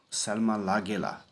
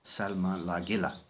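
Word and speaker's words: Lagerlöf: And so it is a bit difficult for us to pronounce his name. It is just pronounced as Selma Lagela.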